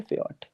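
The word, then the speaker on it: Pferd: इसको पढ़ेंगे फयट।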